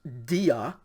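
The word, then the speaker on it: διά: word is delta yota alpha and so it's pronounced dia and then the second word notice it starts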